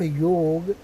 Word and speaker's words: योग: में लिखा हुआ YOGA, वो योग है, योगा नहीं है। ये अंग्रेज थे, उन लोगों ने अपना बना दिया। हम सभी भारतीय हैं, हम सभी उच्चारण कर सकते हैं, तो हमें योगा नहीं बोलना चाहिए।